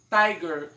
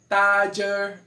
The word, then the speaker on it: tiger: Tiger. Não é nem tiger, nem tiger. É tiger. Tiger.